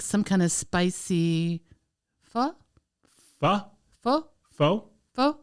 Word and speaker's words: pho: Pho? Pho? Pho? Pho? P-H-O, pronounced pho.